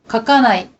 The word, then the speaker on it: 書かない: are usually pronounced voiced, but unaccented ka and ko at the beginning of a word are often unvoiced when followed by the same syllable. 書かない。